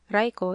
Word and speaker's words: Raiko: Raiko is the Chinese pronunciation and Yorimitsu the Japanese rendering.